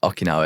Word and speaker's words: Okinawa: But how do you say it? Okinawan? Okinawa, yeah. Okinawa. So there's no N at the end.